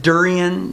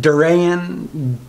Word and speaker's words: durian: some people pronounce it durian some people pronounce it Duran Duren I've heard it all I say Duren um but they wanted